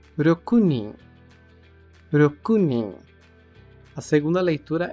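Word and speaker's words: 六人: falamos a quantidade de seis pessoas que é rokunin rokunin a segunda leitura é seguido pelo t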